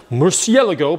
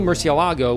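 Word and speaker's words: Murciélago: this a 2002 Lamborghini as the Americans say Murcielago or the Italians Murcielago but however you pronounce it this thing is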